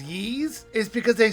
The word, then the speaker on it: Ys: game and the only reason I know it's pronounced ye is because they say it in the game if not I keep calling it wise I reviewed ye's book one and two for